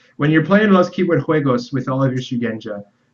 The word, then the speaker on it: juegos: It was pointed out to me that that's pronounced with an H sound, not a J sound, so I apologize. Okay. When you're playing Los Keyword Juegos with all of your